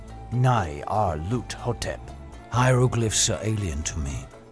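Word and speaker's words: Nyarlathotep: on the side mean the director of the museum pronounced it as nah our loot hotep hieroglyphs are alien to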